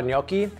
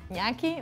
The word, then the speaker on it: gnocchi: I was recipe testing this with ricotta cheese and almond flour because I have a killer recipe for ricotta gnocchi, but it just wasn't working.